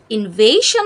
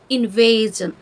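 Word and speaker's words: invasion: invade থেকে আমরা পাবো ইনভেজন ইনভেজন এখানেও এস আই ও এন যুক্ত হয়েছে তবে উচ্চারণটা আসলে ইনভেশন হবে না ইনভেজন যখন এস আই ও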